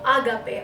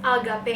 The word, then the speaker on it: agape: And in Greek, there is also the saying of agape. I think that's how it's pronounced, agape.